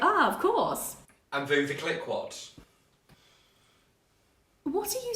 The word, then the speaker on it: Veuve Clicquot: Is it a Vuva Click-What?